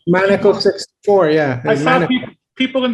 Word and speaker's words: Maneco: I'm always pronouncing that wrong. Is it? That's right, Maneco64.